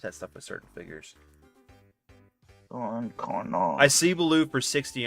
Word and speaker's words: Don Carnage: It was Don Carnage, not Carnage, but Carnage.